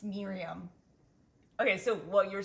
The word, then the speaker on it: Miriam: Miriam tells me I say her name wrong, and she's wrong. Well, you say Miriam. That's not my name. It's Miriam.